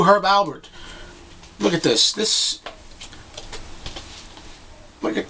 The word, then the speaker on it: Herb Alpert: You always say it like there's a B in it, even though you spell it with a P. Herb Alpert.